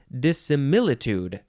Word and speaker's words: dissimilitude: dissim what is this dissimilitude you gotta emphasize the myth and then the last syllable can be tude or tude dissimilitude dissimilitude noun from